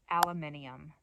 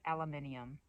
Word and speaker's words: aluminium: Aluminum. That's how I said it. Aluminum. Comes out really nicely like that, but it's wrong, apparently. Aluminum. But just follow the British and say aluminium. That's a beautiful word, aluminium. It's in the sky all the time.